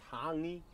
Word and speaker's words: hangi: ma roast hey guys hangy for dinner it's h it's pronounced hangi Hy yeah well was